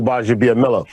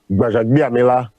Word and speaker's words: Gbajabiamila: Okay, so I'll give you the American version, and then I'll give you the Nigerian version. Okay, so with the American pronunciation, it's Akbar Oluwakemi Idowu Gbajabiamila.